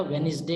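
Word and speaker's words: Wednesday: यह मिस प्रभाव से इसी तरह से वेनसडे इसमें डिप साइलेंट है तो यह बन जाएगा वेनसडे कि वे निर्दई दो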